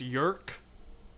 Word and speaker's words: Yeerk: Brandon 86, the Yeerks, which I always pronounced it the Yeerks. Apparently just Yerk.